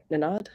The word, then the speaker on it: Nenad: so we'll be bringing on um is it nanad i always i'm going to have him um uh correct the pronunciation of his name again the co-founder of